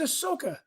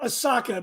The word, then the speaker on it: Ahsoka: was dressed up as Ahsoka Tano. Last week on the show, I called her Asaka because I was thinking of sake, as my friend Barry Harmon always pronounces it.